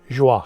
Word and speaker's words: Joie: See, that's why I pronounce that brand of kitchen good, joie, because that's like joie de vivre.